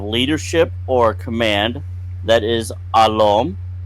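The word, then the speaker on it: alm: Mirad we have leadership or command that is alom spelled a l m alom we have leader which is a lore which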